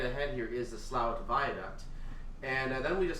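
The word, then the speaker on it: Slaithwaite: but it did so this is slout of course it's spelled as slave weight uh good luck figuring that out if you're hearing slow it I don't know how this is pronounced slout but apparently it is and as usual because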